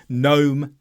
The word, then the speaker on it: gnome: lot in English too gnome Gat rain in all of these words the g is silent but this only works